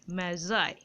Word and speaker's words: Magi: gift of দা ম্যাজার এই উচ্চারণটা কিন্তু ম্যাগি নয় যেটা খাও সে উচ্চারণ করে দিও না ওটা ডবল জি থাকে দেখবে ঠিক আছে এই উচ্চারণটা উচ্চারণটা হবে অনেকটা এরকম এ এ জেড আই ম্যাজাই এরকম উচ্চারণ ঠিক আছে